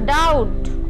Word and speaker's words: doubt: The letter B is silent before T in the word such as doubt.